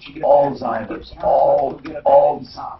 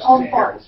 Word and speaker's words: Alzheimer's: hold that guy Alzheimer's, and it's not, there's no T in it. How does it say how to pronounce it?